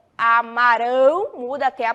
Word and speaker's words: amarão: é esta eles Amarão muda a pronúncia e vai terminar em ao combinado agora eu quero